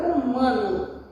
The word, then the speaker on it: humano: Formou a palavra humano. Repara que todas elas iniciam com H, mas o H não tem som, tem a pronúncia da vogal.